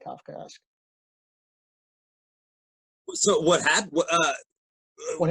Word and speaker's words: Kafka: your book bullet to death chris mcnais divorce kafka right it's named for franz kafka he was